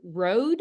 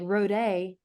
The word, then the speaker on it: RODE: So Mike's, how do you say RODE? Is it road? Road, yeah.